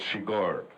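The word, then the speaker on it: Chigurh: I just asked him what was the right pronunciation of my character's name, which is quite weird, and he said Shigar.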